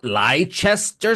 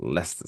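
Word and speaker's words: Leicester: that place leer leester Square they always like liester Square no it's Lester Square it's pronounced Lester Square fun fact just the facts ma'am um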